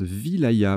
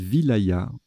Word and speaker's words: wilaya: ailes à sa sauce ça se prononce wilaya ma voyez je le découvre petite découverte donc on dit wilaya ok division administrative de